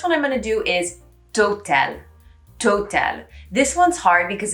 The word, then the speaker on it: Total: So instead of total, you have total, okay?